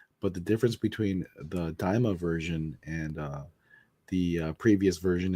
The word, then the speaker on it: Daima: I'm gonna say it wrong again, but Diama. No, Daima.